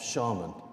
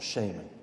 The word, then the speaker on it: shaman: the witness be fulfilling the role of shaman, or shaman, you can pronounce both.